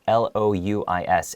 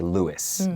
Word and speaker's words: Louis: so this word louis l-o-u-i-s in america we would we would say lewis but for you know if it's a french name it would be louis okay pronounced louie and the x i